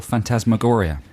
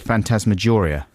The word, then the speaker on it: phantasmagoria: the world's a wonderful phantasmagoria it is and absolutely do you like people who pronounce that word phantasmageria no but i do